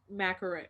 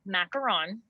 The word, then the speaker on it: macaron: proper way to say macaroon like what is the proper way okay here's here's what i say okay so it is macaron okay uh like you're saying ron from harry potter at the end